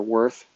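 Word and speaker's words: Würth: Like if you want the best ones, probably like V or Worth is how people in English pronounce that German last name.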